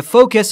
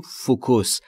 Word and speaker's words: focus: The focus on my camera is not working properly. The focus. Focus همون چیزی که ما در فارسی میگیم فوکوس. Focus. تلفظ درستش در انگلیسی focus.